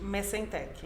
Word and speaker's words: Messentech: Se pronuncia Messentech, é isso? Messentech.